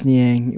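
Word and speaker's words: Niang: say his name but they didn't pronounce it right. I was like I was like it's George Nyang they call him the minivan.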